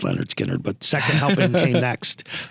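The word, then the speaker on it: Lynyrd Skynyrd: that's their debut um called pronounced Leonard skinnard but second helping came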